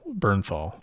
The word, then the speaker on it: Bernthal: Bernthal. Joe Bernthal. Yeah. Yeah. Okay.